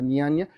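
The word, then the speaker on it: Nyaya: En la India está eh algo que se llamaba, se escribe N y A y a Y y a Niania, algo así se pronuncia niania, que tiene que ver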